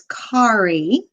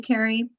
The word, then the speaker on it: Kari: that you know that the proper pronunciation of my name is Kari. And I'll help you remember. See, it's a very common mistake. A lot of people call me Carrie.